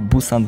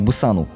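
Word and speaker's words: 부산: A co do Busanu? Po pierwsze, dlaczego mówię Busan, a nie Pusan? Właściwie obie wymowy nie są poprawne. Gdyż koreańska wymowa to jest coś pomiędzy B a P.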